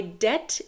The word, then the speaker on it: debt: car payment now my debt is paid in full or my debt is settled debt is spelled D EBT but we don't pronounce the we don't say de